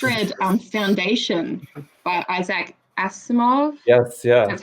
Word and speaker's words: Asimov: year i just read um foundation by isaac asimov yes yeah that's how you say it so